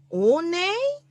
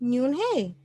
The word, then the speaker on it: Unhei: "One?" the girl asked, scrunching up her face. One," some kids chanted. "No, no," Yoon-hae corrected. "It's spelled Unhei. It's pronounced Yoon-hae."